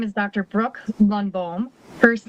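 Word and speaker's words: Lundbohm: Brooke Lunbomb. First name is spelled B R O O K E.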